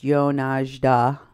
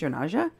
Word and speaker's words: Yonazda: on this page, who wrote, Yonazda, pronounced Yonajda, I'm probably doing it wrong. Yonaja. It's pronounced Yonaja? Oops, sorry, I didn't know.